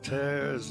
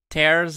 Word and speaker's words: tear: E a pronúncia também muda.